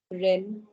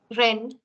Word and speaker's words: Rennes: How do you pronounce this word, please? Nantes. Nantes. That's right. Nantes. Next one. Rennes. Rennes.